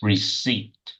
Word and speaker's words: receipt: Scripts, receipt, I want that receipt, T, please. I don't want the P. I want the T. receipt.